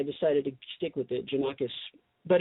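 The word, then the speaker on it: Gianakos: Janakis, but it's spelled really my birth name was spelled with a G.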